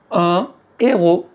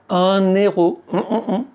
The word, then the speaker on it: héros: Un héros. On ne dit pas : “un_héros”...